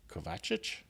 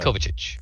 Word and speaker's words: Kovacic: Uh we wrapped an interview earlier today with Clara Kovacic, I believe it was pronounced. No, Kovichic. Thank you. I was just about to say no because I put the emphasis on the second syllable there again.